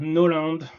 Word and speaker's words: Gno.land: It's pronounced Gno.land, No.land.